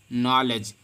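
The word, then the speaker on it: knowledge: सभी को पता होगी नॉलेज नॉलेज में के के बाद एन आया है तो कानो कानो नहीं पढ़ने हैं बल्कि 9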